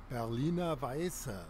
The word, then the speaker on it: Berliner Weisse: I'll tell you how it's pronounced. Berliner Weisse.